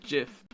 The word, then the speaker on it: Jif: funny funny guy no the peanut butter is pronounced Jiff y it's spelled j-i-f it's the one choosy